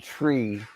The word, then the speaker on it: Trea: St 42 42% Turner I do like that they pronounce it tree Turner maybe I can fix